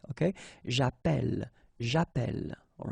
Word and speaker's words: j'appelle: in the previous video, if you have double L like that, it will affect the pronunciation of the So actually it will open the sound, and that's the reason why you will get the sound E, okay?